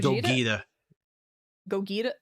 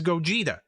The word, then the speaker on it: Gogeta: so I didn't yeah it's it's Gogeta you said Gog you know potato potato you know I'm saying wrong no there's one pronunciation it's Gogeta as a metaphor for